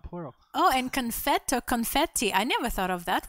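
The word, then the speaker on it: конфетти: they have for confetti it's confetti that's how they pronounce it don't ask me i'm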